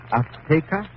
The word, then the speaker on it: Azteca: She said, how do you say in English, Azteca? Azteca. She gave the Z a TH sound. That's Castilian Spanish. Mexican or any Spanish American would say Azteca.